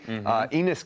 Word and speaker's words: Enes: I can only imagine how Durant could respond to someone whose first name rhymes with penis.